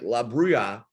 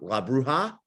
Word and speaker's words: La Bruja: interesting for me uh like La Bria I said that wrong La bruja oh love what La bruja La bruja yes am I pronouncing that